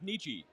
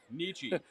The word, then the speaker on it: Nietzsche: today alone today alone so I share this out to a lot of people uh it's PR it's pronounced it's pronounced Nietzsche um Nietzsche I know he's messing with us I like